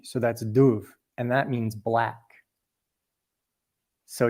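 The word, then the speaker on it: dubh: That BH is pronounced like a V. So that's Duv and that means black.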